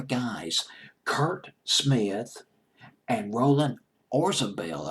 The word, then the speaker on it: Orzabal: Kurt Smith and Roland Orzabal I believe is how you pronounce his name Oh RC a BT